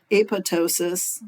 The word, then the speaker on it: apoptosis: initiate what's called apoptosis a p o p t o s i s all right and apoptosis sometimes pronounced apotosis sometimes the p is considered silent it just depends on who you talk to um but this is